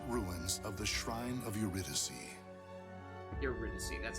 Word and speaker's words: Eurydice: destination the ancient ruins of the shrine of eurydice that's how you pronounce that it was there that sofitia after